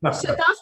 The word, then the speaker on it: Shataf: Also, Shataf, because I have seen you in a lot of Bengali films, so I thought this is what the pronunciation would be like. Absolutely, you're bang on.